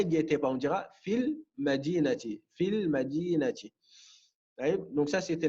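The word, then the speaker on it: في المدينة: Donc, pour éviter justement deux soukouns qui se suivent, à la prononciation, on va faire comme si que le ya n'y était pas. On dira fil madinati.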